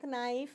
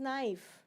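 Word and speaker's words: knife: So whenever N is there, K becomes silent.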